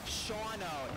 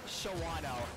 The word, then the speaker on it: Shawano: my bad excuse us it's pronounced shawno not Shawano our bat on that